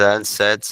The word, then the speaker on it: Ansatz: It's called Ansatz. There is different way to pronounce it, so I will pronounce it as Ansatz, and yeah, so for our session, we will treat it as a black box.